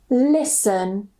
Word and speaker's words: listen: So we just pronounce it sun, sun. For example, fasten or fasten, glisten, listen, moisten.